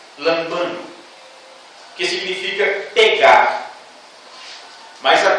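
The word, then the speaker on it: λαμβάνω: grega no orinal que poderíamos pronunciar como lambano mais ou menos assim a pronúncia desta palavra aqui neste versículo lambano que significa pegar mas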